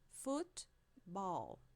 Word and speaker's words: football: Football. Football. Aqui a gente tem a sílaba forte no foot.